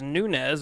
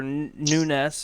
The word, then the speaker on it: Nunes: Tate versus Nunez, or Nunes, or Nunez, whatever they're wanting to call her. I heard three different names throughout that pay per view. I Um, believe Nunez is the proper pronunciation.